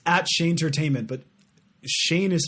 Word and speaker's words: Shayn: gonna follow me it's at Shea Entertainment but Shane is spelled SH a yn when you type in